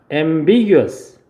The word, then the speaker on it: ambiguous: ambiguous 예, ambiguous죠. 예, 잘 따라하고 있네요. ambiguous 이음절에 강세 있어요.